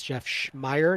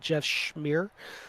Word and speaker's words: Schmire: It is Jeff Schmire, not Jeff Schmeir.